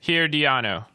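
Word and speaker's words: Herediano: get there right yeah that's that's the way to say it here Dion oh here Dianna would be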